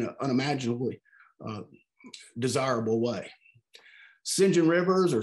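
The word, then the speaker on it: St. John: to pronounce these words that it was pronounced sinjin shinjin rivers and sinjin rivers wants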